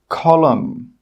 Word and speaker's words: column: The letter N is normally not pronounced when it's after the letter M at the end of a word. Some example words are column, autumn, solemn, condemn, hymn.